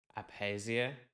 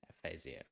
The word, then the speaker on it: aphasia: discovered that I mispronounced the word Aphasia I pronounce it like apesia which is wrong pH is silent so remember this the right version is aphasia let me continue sometimes as my mood urged